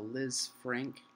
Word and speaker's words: Lisfranc: Um, and when I hit the ground, I suffered what they call a Liz Frank injury. If you're interested in knowing more about that or just like interesting medical stuff, it's spelled Lisfranc.